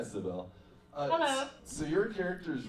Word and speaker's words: Sibel: So it's pronounced Sibel. Yes. Hi, Sibel.